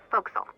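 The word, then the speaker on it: forecastle: ship but it's pronounced fil why is that try pronouncing it like an English sailor with no formal education SPO Castle fil over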